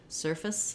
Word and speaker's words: surface: There's a little bit of vowel, of course, because if I just do fs, it would be like surfs. So there is a little space in a syllable there, a little small I sound or sound, but very reduced rather than face. So not surface, but surface, surface.